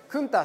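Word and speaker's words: Countach: でしたかまたカウンタックってクンターして発音するんですけれども驚いたって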